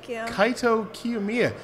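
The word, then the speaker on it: Kaito Kiyomiya: Mia yeah - oh is that so well Kaito cue Mia yeah I I fell down a flight of stairs trying to pronounce that let's hear it now kai Tokyo Mia I can only do that because I'm repeating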